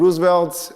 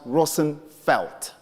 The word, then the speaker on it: Roosevelt: And Roosevelt is a bastardized Dutch name, which in real sense is pronounced Roosevelt. Are there any Dutch people here before I murder the name?